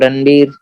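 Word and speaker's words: Ranvier: 2 Schwann cell के बीच में जो छूट गया जगह उसको हम लोग बोलते हैं रणबीर Kapoor, node of रणबीर, VIER है लेकिन स्पेलिंग अलग है, ठीक है।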